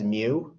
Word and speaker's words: mu: tail on it it's called mu it's actually pronounced as mu that's what i'm trying to show you by